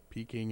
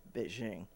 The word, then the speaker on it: Beijing: too well it's like what peaking in beijing yeah well it's beijing yeah okay there you